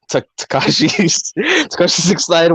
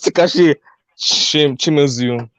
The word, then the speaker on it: Takashi Shimizu: Okay, Takashi 69. What? No, that's Takashi Shimizu.